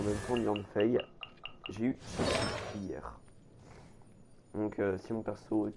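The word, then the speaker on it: Qiqi: Il y en a beaucoup qui le prononcent Kiki, mais c'est Chichi, hein, c'est pas Kiki.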